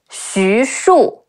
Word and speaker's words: Xu Shu: Some other notable characters include Xu Shu, Xi Yu Xu, Shi Wu Shu, Xu Shu, Zhou Cang, Zhi Ou